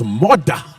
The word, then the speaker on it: Murdah: Which, if you're from Scotland, it's all right, it's Murdah. Murdah. But in English, it's badly spelled.